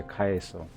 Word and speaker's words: Caeso: Caeso? Would be like, if you're doing the old Latin pronunciation, it would be like similar to the pronunciation of Caesar, right? Which was Caesar, I think?